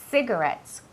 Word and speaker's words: cigarettes: Cuidado con la pronunciación de esa palabra. No es ci, es C. La C y la I siempre tienen un sonido que es como si fuera una S, ¿vale? Cigarettes, como city, ¿vale?